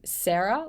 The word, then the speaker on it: Sera: Um, but yeah, yeah, we were around for ages, and then we changed our name to Sarah, which is spelled Sera, which was a terrible choice because a lot of people had that name, and Mm.